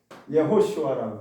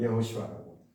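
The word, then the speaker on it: יהושע: 여호수아가 히브리어로 읽으면 어떻게 되냐면 이렇게 불러요. 예호수아라고 불러요. 예호수아라고.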